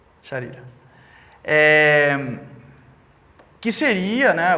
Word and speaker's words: Sharira: Aí a gente tem o Linga Sarira, não sei se essa é a pronúncia correta. Sarira? Sharira.